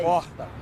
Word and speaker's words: porta: É um R gutural. Eu digo porta. Porta. É quase um H. É um som quase de H.